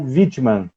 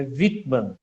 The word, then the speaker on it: Wittmann: O Anderson Whitman ou Wittmann? Rapaz, a pronúncia correta é Wittmann, com Ah, W, estamos pronunciando com V, né? Wittmann, Wittmann.